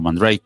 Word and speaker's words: Mandrake: Yo, mi primera instalación de Mandrake, Mandrake, creo que se pronuncia en francés, o Mandrake, como muchos pronuncian en inglés. Vamos a castellanizarlo y decimos Sí, Mandrake.